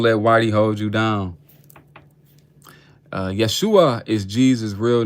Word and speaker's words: Yeshua: Yeshua is what they called Jesus when he was on earth. That's how they pronounced his name.